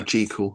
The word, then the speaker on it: Jekyll: Was an early sort of Jekyll and Hyde, I think, wasn't it? Or Jekyll, I should say, pronounce it properly.